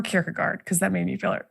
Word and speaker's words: Kierkegaard: and then to decide whether it's pronounced kierkegore or kierkegaard because that made me